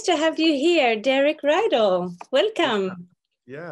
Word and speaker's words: Rydall: So nice to have you here, Derek Rydall. Welcome. Yeah, it's great to be with you. My last name, just so you know, is pronounced like an E, Rydall. Rydall. As if it was an E.